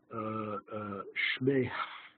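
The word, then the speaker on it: שְׁמֵהּ: Shmeh, you're supposed to pronounce the hey at the end.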